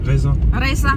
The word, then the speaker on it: raisin: Reza. We kalau tulisnya raisin, but bacanya reza.